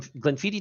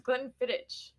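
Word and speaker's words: Glenfiddich: gleniti care uh Glen gleniti Distillery 15year Solera blend gleni is not spelled the way it sounds because is that how you pronounce it I thought it was Glen fittit you got it right hell yes but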